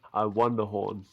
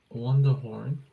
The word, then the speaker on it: Wonderhorn: No, I won the horn. You pronounced it wrong. Disappointed in you. Wonderhorn.